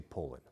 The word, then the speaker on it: Poulin: I don't know where you're from, but out here on the West Coast, which is the best coast, we say Poland. And we have the biggest trees, so that's that. The bottom line on how to pronounce Poulin.